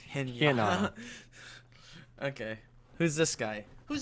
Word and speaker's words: Hinata: this whole time I've been rating his name to rhyme with Pinata. Oh yes, Hinata.